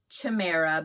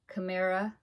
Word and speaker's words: Chimera: I thought it was Chamra but then somebody said it was not pronounced like that. Chimera.